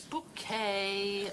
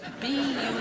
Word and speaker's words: Bucket: It's bouquet. B-U-C-K-E-T. Bouquet. The accent on the second syllable.